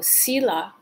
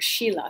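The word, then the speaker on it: sīla: original words preceding sanskrit so sila or sheila sometimes pronounced as is proper conduct which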